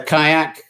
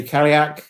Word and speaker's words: Cailleach: call the hagley uh the kayak uh or some people say karyak um it's different pronunciations wherever you are even the inner and